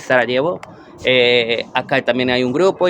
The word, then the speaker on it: Sarajevo: Acá en Bosnia, en los grupos de Facebook de, por ejemplo, latinos en Bosnia, yo estoy en Sarajevo, que se escribe Sarajevo, pero la pronunciación es Sarajevo.